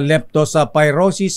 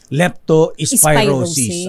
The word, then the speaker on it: leptospirosis: ay sister m Ayan ang tamang big leptos pyrosis ay leptospirosis Ayan nasana ka leptos ayan